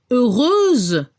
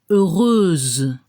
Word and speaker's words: heureuse: Para el masculino no se pronuncia la X, heureux, y al femenino se pronuncia como una Z al final, heureuse.